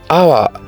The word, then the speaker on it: hour: here in blank hour hour just like honest has a silent h so what we have here is just o Ur R and that is why